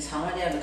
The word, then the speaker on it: 사마리아: 자, 이제 사마리아로 들어갑니다.